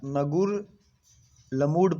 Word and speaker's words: Ngerulmud: इसको पढ़ा, पता नहीं क्या पढ़ेंगे, प्रोनाउंसिएशन थोड़ा सा इसका डिफ़िकल्ट है, बट आपको ऐसा नगुर लमूड पढ़ सकते हैं, नगुर लमूड।